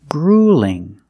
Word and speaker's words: grueling: put ing after it now I have an L between vowels if you have an L or a Double L between vowels that's a light l so it's a little different grueling Ling grueling what's different